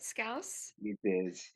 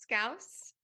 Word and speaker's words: Scouse: they say it right scouse like house scouse yeah basically yeah my